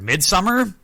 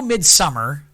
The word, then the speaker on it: Midsommar: to your perception yeah I'm gonna go mid-summer but don't don't be surprised if I drift into midsomar every once in a while I'm probably gonna go Midsummer because that's how I pronounce it in my brain because that's how it's spelled very fair it's it's